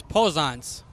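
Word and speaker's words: Poznac: how do you pronounce your last name? It is Pozanc.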